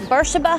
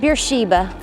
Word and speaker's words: Beersheba: So around here we call this Beersheba Highway, not Beersheba, as it is spelled, and is likely named